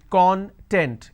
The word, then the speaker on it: content: have the word content I break it into two syllables when I pronounce this as kon kon tent it means ingredient or index when I pronounce this as gun that means happiness or being happiness or being self-satisfied so these are the aspects